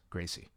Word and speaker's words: Gracie: if you call Royce Gracie that. Yes. And yet I've been told it's Royce Gracie. That is the accurate pronunciation. Royce is not a thing.